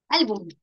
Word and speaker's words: álbum: Bien, se me ocurre la palabra álbum. ¿Dónde lleva la mayor fuerza de voz? En al, ¿cierto? Entonces decimos última sílaba, penúltima sílaba. Ah, sí, efectivamente es una palabra grave o Ahora vamos a las reglas de acentuación.